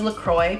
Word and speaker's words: LaCroix: I really like Lacroix I know the company calls themselves Lacroix but if someone who speaks French no it's the coop it's spelled like quite clearly French so I've tried like